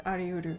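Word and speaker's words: ありうる: Oh, but technically it's ariuru.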